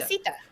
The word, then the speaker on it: Casita: No, we're pronouncing it the same way that's the an people are. introduction. We're pronouncing it the same way the people are in the movie are pronouncing it. Casita. Yeah, Casita. Look, everybody in this cast is Colombian. I'm pretty sure that's how they pronounce it.